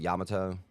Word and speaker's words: Yamato: mission 12 which is which is Yamato or Yamoto Yamato however you say it I've always pronounced it Yamato um I think that's actually how you're supposed to say it um and everything's kind